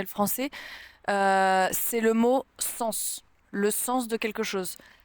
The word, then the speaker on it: sens: beaucoup de choses et on prononce le S mais pourquoi je sais